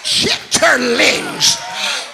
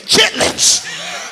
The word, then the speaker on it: chitterlings: Ham hocks, fat back, chitterlings. For all of you college graduates, you need to say it like it is. Chitlins.